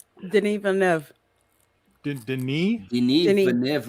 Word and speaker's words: Denis: Denis Villeneuve. Denis? Denis Denis. Villeneuve. Where? Denis? I thought his name. I thought his name was Dennis. Last name thought- is Well, I mean, look at the way it's spelled.